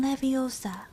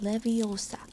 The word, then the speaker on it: Leviosa: luck when got him leviosa he shouted waving his long arms like a windmill you're saying it wrong having heard hermane snap it's wingardium leviosa make the god nice and long you do it then